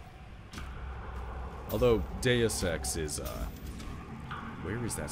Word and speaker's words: Deus: Deus is correct, yeah. I guess the way I'm remembering it is that people were mispronouncing it as like something like do sex, which was just really weird.